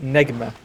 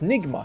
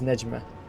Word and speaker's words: Nigma: Yeah, because it's supposed to mean star in Arabic and it's pronounced as Nejma.